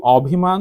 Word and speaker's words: অভিমান: আমি লিখেছি অভিমান তাহলে এটির উচ্চারণ কি লিখবো আমরা ও ভি মা খেয়াল করুন এখানে আছে অ কিন্তু আমি লিখেছি ও এটা কি আপনারা নিশ্চয়ই কেউ অভিমান উচ্চারণ করেন না আমি